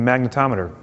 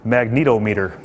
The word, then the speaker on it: magnetometer: like me and said, I think that's pronounced magnetometer, which is really helpful for telling you when Magneto is near.